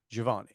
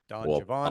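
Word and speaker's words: Don Giovanni: and he he said that the the correct pronunciation is Javan Don jaavan obviously a lot of people must have yeah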